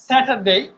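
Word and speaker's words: Saturday: আমরা শেষে ডে বলি উচ্চারণটা ডে না ডেই যেটা আমরা এই শেষে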